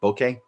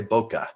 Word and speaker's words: bokeh: meaning fuzzy or blurry and it is bokeh that is the proper way to say it as far as my understanding but i do know a lot of people say boka and so either way it's fine uh it's it